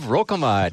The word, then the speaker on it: Rokamad: Steve Rokamad. Hey. Did I say that right? You said it right.